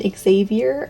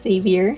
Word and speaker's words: Xavier: with Oscar Arthur and Xavier or some people pronounce this just savior Elijah I cheated on